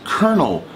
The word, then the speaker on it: colonel: one another one is Colonel Colonel a colonel is a rank in the army or the police it's a certain designation of rank and for someone it looks like colon L but Colonel is the word that